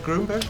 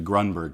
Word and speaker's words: Grunberg: introduce you to Greg gromberg hey Greg gromberg he pronounced my last name grunberg it's actually grunberg but you know what